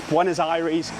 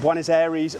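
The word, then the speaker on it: Buenos Aires: in uh in Argentina it's buen as iries um I've been calling it buen as Aries my entire life so I've had to reprogram the uh the brain for the the actual how to pronounce it which is still pretty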